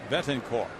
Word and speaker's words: Betancourt: And now we're hearing that his name is pronounced Yunieski Betancourt. That's the latest pronunciation for this shortstop from Cuba. 251, 10 homers, 55 runs batted in. Silent T on the end.